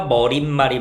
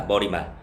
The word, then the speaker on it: 머리말: 근데 얘는 그 이유가 뭐냐면은 얘는 우리가 아무 생각 없이 발음하면 머릿말 니은이 덧날 거 같잖아. 근데 얘는 그냥 머리말이랑 인사말은 발음 표준 발음 자체가 니은이 덧나지 않고 머리말 인사말이라는 거야. 어 이런 식으로 깊이 파고